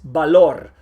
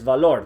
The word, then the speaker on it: valor: Remember, when you have a B or a V at the beginning of a word, you pronounce it strong like a B. Vaca, viernes, valor. Don't say vaca, viernes, valor. That's wrong. There is no V sound in Spanish.